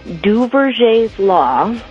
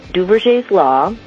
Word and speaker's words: Duverger: Because of something called Duverger's law, and that's spelled D-U-V-E-R-G-E-R, Duverger's law, this structure always results in a strong two-party system.